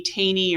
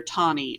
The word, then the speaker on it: Taney: with a man named roger b taney or tawny i've heard people pronounce it two different ways i always heard taney growing up but um in in